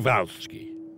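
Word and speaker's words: Przhevalsky: the kind of it's Perceval Sookie he was Russian so you're supposed to say mr. Volsky and here he is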